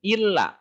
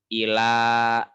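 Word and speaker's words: إلى: Bukan illa karena tidak ada tasjid. Tapi ila bukan illa. Jangan salah.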